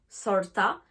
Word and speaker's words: sorta: Donc sort of, sorta, type of, typa. Donc vous remarquez qu'en fait, à chaque fois qu'il y a la préposition of, la contraction se fait en A.